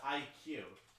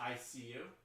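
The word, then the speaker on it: iCUE: ICU I think it's I think it's pronounced IQ or is it I see you just say it's IQ right IQ IQ right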